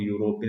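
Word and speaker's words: European: യു ലെ ഇ ആണ് starting letter എങ്കിലും അതിന്റെ ഉച്ചാരണം യാ യിലാണ് സ്റ്റാർട്ട് ചെയ്യുന്നത് യൂറോപ്യൻ എന്ന യാ യിലാണ്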